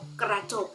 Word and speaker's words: กระจก: จอ อุ กอ จบ กระจก นะ คะ จะ ออก เสียง อะ นะ ครับ อ่า นัก